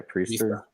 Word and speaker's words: Priester: Yeah, Priester.